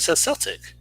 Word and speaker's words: Celtic: ze l TI c no it's it's pronounced celtic unless you're referring to the boston celtics how the Celtics failed it's the same it's just on the oxygen here's the Boston Celtics spell it that way and they're pronounced that way but in every other context its Celtic oh won't that be